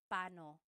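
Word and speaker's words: paano: It's technically when there are two vocab or when there are two vowels together you say them separately. But when speaking quickly, Filipinos just say pano.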